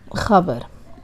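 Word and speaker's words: خبر: Khabar, news.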